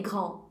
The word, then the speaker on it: grand: Gente, não quero nem sombra desse D, tá? Os alunos, a gente fala assim: olha, o D é mudo, o T é mudo, aí eles ficam falando bem devagarzinho. Grand. Não! Grand. Não pode nem fechar a boca.